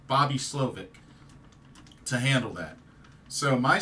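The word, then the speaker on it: Slowik: Houston he hired a good coordinator and Bobby schik schic or slovic I keep saying that name wrong Bobby slovic to handle that so my sense is leadership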